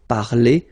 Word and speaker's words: parler: So, I mean, this combination of two letters at the end of the words normally gives the sound E. Okay, parler, and then past participle, participe passé, parler.